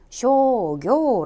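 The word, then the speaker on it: 商業: ' 로 읽히므로 ' 상업 ' 은 ' 쇼교 ' 로 발음 됩니다 .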